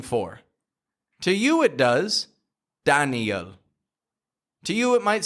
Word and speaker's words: Daniel: To you it does, Daniel. To you it might sound the exact same. But to Daniel, he's listening for the strength to be in Dan. Dan. So put the strength in Dan.